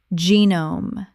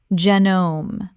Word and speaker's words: genome: Genome. Common mispronunciation. Genom. Correct pronunciation. Genom. Two syllables. The G makes a J sound and the E is long.